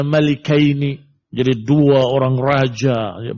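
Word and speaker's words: مَلِكَيْن: Wa kana Abdullah bin Abbas radhiyallahu taala anhu membacanya malikaini. Jadi dua orang raja, ya, bukan malakain, tapi malikain.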